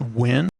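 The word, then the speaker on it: Nguyen: like there's the n-g-u-y-e-n which is pronounced win yeah but i don't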